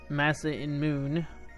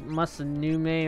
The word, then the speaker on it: Masamune: name of the sort split into two names Massa in moon and that is actually a careful way of how you should pronounce the name there I've heard people say